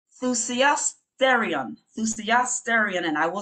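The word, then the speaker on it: θυσιαστήριον: And not to leave out the Greek renders this word as, and it's a tongue twister, it's thusiasterion. Thusiasterion, and I will spell it.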